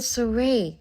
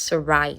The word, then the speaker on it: Sarai: And then Surrey, sensing the crown is in danger, tries to break in. I think it's Sarai, that's her name actually. Sarai is the correct pronunciation.